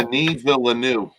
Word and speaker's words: Denis Villeneuve: Steven, you pronounced the name Denis Villeneuve. Wow. Denis Villeneuve.